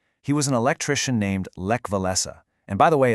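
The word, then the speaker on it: Lech Wałęsa: He was an electrician named Levlesa. And by the way, it's pronounced Le Voenza.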